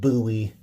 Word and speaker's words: Bowie: It's actually pronounced Bowie.